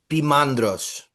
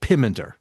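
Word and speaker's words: Poimandres: How do you pronounce Pimeander? Pimandras. Pandas. So that's the the the pyandras. It's I mean in in sort of late 19th century English they called it pimeander pyander.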